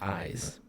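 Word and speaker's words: Ysé: So, these people, this Citrine gang, headed by this Ladrin, Yais, or it's Eyes, but it's spelled Y-S-E, but it's Eyes, who's the leader of this gang, have infiltrated Clan Horn.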